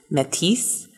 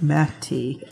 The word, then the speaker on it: Métis: If you're using like the English pronunciation, it's like meh and then T, like I'm wearing a T-shirt. Meh T.